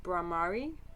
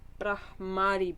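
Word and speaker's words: Bhramari: I think the Sanskrit term is Bahrami. Damn it! Wait, I've got it written down here. Brahmari breath.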